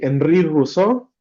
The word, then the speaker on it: Henri Rousseau: Espero estarlos pronunciando bien, pero bueno. Rous. Sí, Enri Rousau.